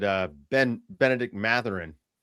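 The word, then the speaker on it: Mathurin: I think like Pelicans, Yees, Mei, Ben Matherin trade. I hope he doesn't go to the Pels. And uh, Dave, that name is pronounced Matt H. Ernie.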